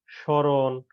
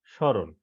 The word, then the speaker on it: স্মরণ: অনুশীলন করবে প্রথমে দেখো ক নম্বরে পদের প্রথমে ম ফলা থাকলে সে বর্ণের উচ্চারণে কিছুটা পড়ে এবং সামান্য নাসিক্য স্বর হয় যেমন শ্মশান স্মরণ এখানে দেখো শব্দ দুইটার